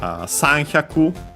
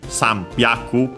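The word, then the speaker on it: 三百: The exceptions are Sanhyaku, well, actually, Sambyaku, because there's the change there.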